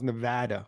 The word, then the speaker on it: Nevada: he's evidently Nevada's laws, Nevada. That's how they say it, not Nevada.